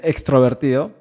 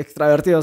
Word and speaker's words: extravertido: llama que se dice todo el mundo lo dice extrovertido está mal dicho si no se dice extrovertido es extrovertido y porque el prefijo extra no existe no es cierto no dices extraer es extraer el extravertido se dice datazo las personas traver